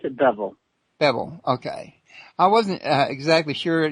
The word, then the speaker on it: Bevell: fine is that bevel or bevel it's I pronounce it bevel bevel okay I wasn't exactly sure I knew it